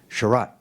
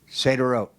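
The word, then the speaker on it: Sderot: I also went to a town in southern Israel called Seiderot, proper pronunciation, Seiderot. I was right the first time. Seiderot. Seiderot. It's spelled very differently than it sounds.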